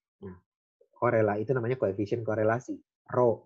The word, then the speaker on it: rho: Nah, itu namanya koefisien korelasi, rho bacanya.